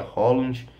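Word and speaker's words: Haaland: loiro alto nome dinamarquês um é Rand o outro se pronuncia Holland mas ele parece que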